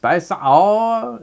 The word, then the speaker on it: Baizuo: Baizuo, pronounced Baisao, is a Chinese epitaph